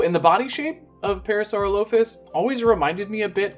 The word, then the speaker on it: Parasaurolophus: Parasaurolophus? Is that how you say it? For the longest time, I used to say Parasaurolophus, but I think that's wrong. So, yeah, Parasaurolophus.